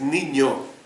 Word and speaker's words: niño: ni no ni no pero si tienes de gorosito arriba la la segunda n la pronunciación es niño entonces de usted tiene